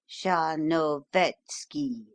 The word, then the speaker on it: Tcharnovetski: It is oddly spelled, but it is pronounced a little broader than you give it, quite as though it were written Tcharnovetski, in fact, with the accent on the third syllable.